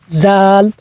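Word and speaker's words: ذ: তো জাল জিহ্বার আগা সামনের 2 দাঁতের গোড়ার সঙ্গে লাগাইয়া উচ্চারণ করতে হয় জাল। তো জালটা নরম, জাল হরফটা নরম।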